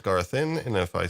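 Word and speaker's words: Garthim: the Garthin, and mm, I don't know if it's Garthin or Garfin, because the pronunciation by just about every character in the film usually sounds like this, and they're going Garfin,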